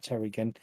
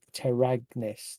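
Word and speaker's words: Teragnis: cleric of center again terry terragness sorry not terrigan it's terry terragness t-e-r-a-g-n-i-s and with that he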